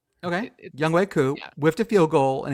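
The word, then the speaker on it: Younghoe Koo: Yung Hoku. No. How do you not know how to say his name? Young way. Say it Bridget. Say it. Bridget. It's Young Way Coup.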